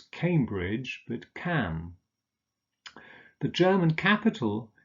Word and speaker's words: Cambridge: unser Notting oh sure Cambridge is on the river cam so it's Cambridge that can the German